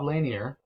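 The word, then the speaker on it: Lanier: long what size do you need and Bob laneer which I believe is the correct pronunciation who once played in the NBA where's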